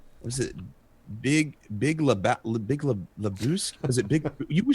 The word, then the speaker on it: Lebowski: I want to say was it Big Lebowski? Was it Big? You were starring. It's pronounced Lebowski.